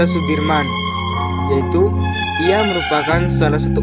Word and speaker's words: Soedirman: Jenderal besar Sudirman menurut ejaan Suwandi dibaca Sudirman yaitu Ia merupakan salah